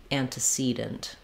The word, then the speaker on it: antecedent: using that stress pattern I suggest starting on the stressed syllable and building from there that tends to be really useful in getting the Rhythm and the vowel sounds correct so that would sound like for example cedent antecedent or talogy herpetology that